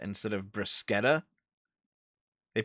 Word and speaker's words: bruschetta: Don't say bruschetta instead of bruschetta. They pronounce it bruschetta?